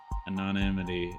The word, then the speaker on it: anonymity: anonymity is scarce there's that's not how you say that word that is a word yeah it is a word how do you say anonity yeah block anonymity anonymity I knew I was saying it wrong anonymity anonymity Solitude sity and anonymity anonymity is scarce there we go thanks